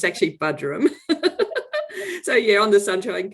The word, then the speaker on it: Buderim: How do you pronounce Well, that's what the tourists call it, but it's actually called Buderim.